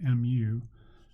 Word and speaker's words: mu: the left here mu it's spelled mu but it sounds like this it sounds like mu the population standard deviation